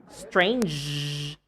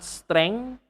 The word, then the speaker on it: strange: Strange, not streng.